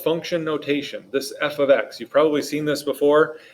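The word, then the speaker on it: f(x): algebra 2 about this please be not confused it's not multiplication this is not f times x all this means is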